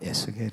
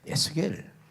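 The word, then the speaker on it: Ezekiel: 하나 해 놓으시고요 영어은 조금 틀립니다 우리 발음으로 그냥 겔이 하지만은 에겔이 번역이 돼 있지만은 영어는 조금 다르게 돼 있습니다 에제키엘 요렇게 되져 있습니다 영어 성경을 보시면 이렇게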